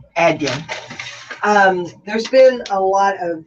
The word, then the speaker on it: Adyen: Thank you for pronouncing Adyen correctly. Right, Adyen.